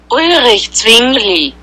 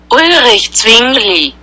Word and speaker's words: Ulrich Zwingli: Ulrich Zwingli. No sé si todos lo escucharon, va de nuevo. Ulrich Zwingli. Así se pronunciaría, perdón, el nombre de este personaje.